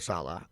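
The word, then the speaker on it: Saleh: Salah I I think Robert right yep Robert Salah okay I think he uh man I I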